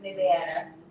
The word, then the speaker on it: Nevada: Las Vegas, Nevada. Nevada, not Nevada, Nevada. That's what it's kind of pronounced.